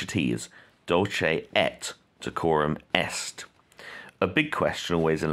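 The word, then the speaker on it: Dulce et decorum est: you don't pronounce sorry you do not pronounce it like french you don't say dolce a quorum you pronounce your tease dolce et de quorum est a big question always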